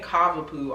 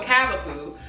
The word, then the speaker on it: Cavapoo: C I've been saying it wrong. I be saying Cavaoo all the time. It's really Cavapoo. Okay. because it's a cavalier king spananiel mixed with poodle. Okay, so cavapoo y'all.